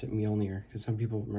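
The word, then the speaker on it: Mjölnir: and yes that's how you pronounce it you pronounce it mjolnir because some people pronounce it mule janeer or something so what i did was i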